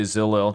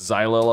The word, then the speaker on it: xylo: could do xylil Xylo I've been told that I mispronounced the word usually because I usually say Zillow because I didn't know what it was it's Xylo apparently I'm probably gonna keep